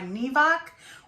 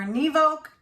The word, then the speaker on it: Nevok: watts and it is made by nevak or nivoke either way you want to say it it's spelled n-e-v-o-k um this does come